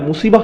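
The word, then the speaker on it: مصيبة: এরপর আবার শব্দটির শেষে রয়েছে তা মারবুতা, যে জন্য আমরা মুসিবাহ উচ্চারণ করি, মুসিব না কিন্তু।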